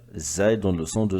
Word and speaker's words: زاي: La lettre Zay lui ressemble, mais avec un point au-dessus. Ra, Zay. R, Z. Il donne le son de Z. Zay donne le son de Z.